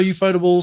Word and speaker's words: ufotable: Anyway, Pronounced Suikoden. Oh my god, UFO table and Suikoden.